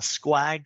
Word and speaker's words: SQUAG: A squag stands for a small, quickly attainable goal. And it rhymes with BHAG to make it easier to remember.